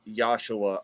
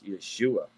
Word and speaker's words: Yeshua: And that's not pronounced as Joshua or Joshua neither. That is Yeshua of Yahuwah.